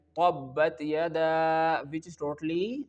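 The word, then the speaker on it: تبت يدا: Here you can only pronounce the letter ta with the light sound, not with the thick sound like letter ta.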